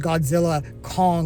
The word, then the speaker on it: Godzilla x Kong: I think it's actually pronounced Godzilla Kong, The New Empire. The X is silent, or at least that's what I read.